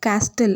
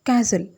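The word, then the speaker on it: castle: இதை வந்து நிறையா பேர் மிஸ்ப்ரொனவுன்ஸ் பண்ணுவாங்க, லைக் கேஸ்டில் அப்படி சொல்லுவாங்க. அப்படி சொல்லக்கூடாது, கேசில். கேசில் அப்படின்னா கோட்டை அப்படின்னு அர்த்தம்.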